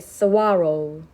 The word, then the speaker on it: saguaro: They are called, 이 발음이 좀 어려운데 saguaro. They are called saguaros.